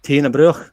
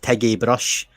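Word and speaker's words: Tighnabruaich: far from where i grew up actually that's pronounced teena bro but it's spelling n-a-b-r-u-i-c-h and people have called it tiggy brush techno broke all kinds of stuff and there was about 20.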